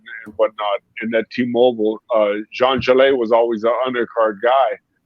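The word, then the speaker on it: Zhang Zhilei: I actually was real familiar with it's actually, his name is Jean Gelet, is how you pronounce his name.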